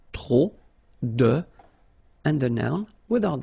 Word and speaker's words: trop: Remember, too many, trop, don't pronounce the final P, trop, de, and the noun without the article.